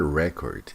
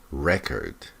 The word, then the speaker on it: record: It's not record, it's record. The world record. So just be careful with the pronunciation of this.